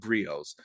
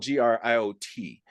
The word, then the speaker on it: griot: African cultures are called grios. It's spelled G R I O T but pronounced Grio.